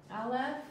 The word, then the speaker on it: Aleph: Aleph, without any vowels, is a silent letter.